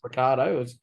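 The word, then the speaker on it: Ricciardo: you know how it's spelled rickardo but it's pronounced Ricardo it was just it was as if someone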